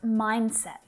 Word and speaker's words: mindset: Vậy hãy bắt đầu với từ "MINDSET" (Tư tưởng) Thực ra, khi ta phát âm từ này, ta bỏ qua âm "D" hoặc do nó trở nên âm lặng. Và hầu như không thể nghe được.